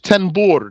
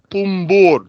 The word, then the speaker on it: طنبور: Sheikh is saying in Arabic there's a dhamma on the ta. Tumbur, tumbur.